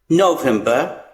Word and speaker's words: November: Same thing, R is silent here. November.